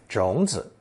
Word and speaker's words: 种子: Notice that when used alone to mean a seed or seeds, 种 adds the character zi for clarity and gives zi its full third tone pronunciation, 种子.